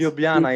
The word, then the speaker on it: Ljubljana: Ljubljana is the capital of Slovenia. Ljubljana. And Ljubljana. Gregor, would you like to spell it for those people, Yes.